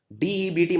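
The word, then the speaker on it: debt: का गठन किया है डेट मतलब उधर डेट इसे मैं बी जो है इसको प्रोनाउंस नहीं करते तो लिखने हैं डेट लेकिन प्रोनाउंस करते हैं तो पब्लिक डेट मैनेजमेंट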